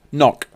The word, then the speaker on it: Ngoc: This is for NGOC, pronounced knock.